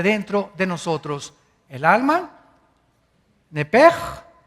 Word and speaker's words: Nepesh: Esa palabra alma es la palabra hebrea Nepesh, así como suena, N-E-P-E-S-H, Nepesh. La palabra, la letra o las letras S-H en el hebreo se pronuncian en hebreo como J. Entonces se pronuncia Nepej.